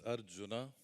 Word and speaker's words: Arjuna: away yeah thank you so the name is Arjuna uh the way J is pronounced in German it's it turns out to